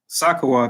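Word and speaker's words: סוכות: And like y'all kind of just alluded to, Sakawat, that's how you say it in the ancient Hebrew.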